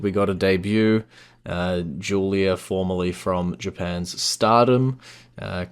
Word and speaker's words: Giulia: saw somebody actually say it's pronounced Julia I'm like oh okay it's a weird spelling for sure yeah yeah um cuz I was like gilia Gia um but yeah